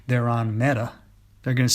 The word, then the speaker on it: Meta: Well, apparently Facebook had a developer in Hyderabad by the name Meta, pronounced Meta, which comes from a Sanskrit word meaning great or worthy of respect.